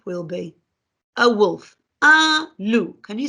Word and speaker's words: loup: Un loup. Can you say that? Un loup. Now, if you look, you don't pronounce the last letter.